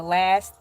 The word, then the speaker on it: Elay: My name is LA, pronounced like LA like the city on that front there, but I'm breezy.